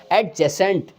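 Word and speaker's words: adjacent: हम उसको बोलते हैं एडजेसेंट। ए डी जे ए सी ई एन टी एडजेसेंट। इसको बहुत हल्के बोलेंगे डी बिल्कुल साइलेंट रह जाएगा। एडजेसेंट बोलेंगे तो बहुत अच्छा रहेगा जिसका अर्थ होता है बिल्कुल करीब निकट।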